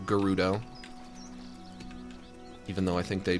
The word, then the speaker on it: Gerudo: You know, the Gorons and the Zoras and the the Gerudo or as they are pronounced now, Gerudo.